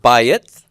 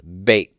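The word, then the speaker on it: בית: the word bayit, and bayit has the AY diphthong, I, bayit, bayit. And when it loses its stress under certain circumstances, bayit can lose its first syllable stress here, then it becomes bait.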